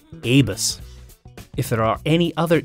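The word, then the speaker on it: Abus: But how do you pronounce it? A bus? A bus? A bus? Yes, it is actually a bus.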